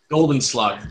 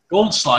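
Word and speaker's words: Goldschläger: Golden Slugger. There's no golden. Goldschlager. Yeah, there's no E in there.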